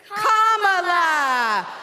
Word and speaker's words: Kamala: do you pronounce it first you say comma like a comma in a sentence then you say la like la la la la la put it together and it's one two three Comm La all right so let's